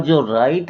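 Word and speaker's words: Djer: अगला जो नाम आता है वो है जेर है। लेकिन जो इसकी स्पेलिंग है डी जे ई आर है। इसमें डी साइलेंट है ध्यान रखिएगा। तो इसको कहेंगे जर कहेंगे तो इनका भी नाम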